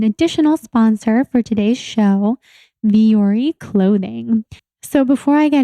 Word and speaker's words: Vuori: So Viore is spelled Vuori, but you can also find it